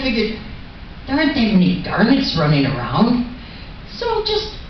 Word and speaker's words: Garnet: First I started out with, it's Garnet, with the accent on the first syllable.